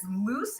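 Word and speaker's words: Luz: again my name is loose it rhymes with goose in spanish my my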